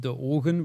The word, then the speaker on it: de ogen: The name also in native language is pronounced de ogen, which means the eyes.